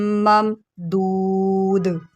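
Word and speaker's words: مَمْدُودٍ: ٹھیک ہے۔ ظِلٍّ ظِلٍّ ممدود۔ اب یہاں پر دال جو ہے وہ ساکن ہو گیا، تو یہاں پر ہم قلقلہ کریں گے۔ اس کو آپ دودھ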